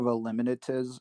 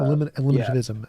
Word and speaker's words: eliminativism: Are you thinking of eliminatism? I can't pronounce that. Eliminativism.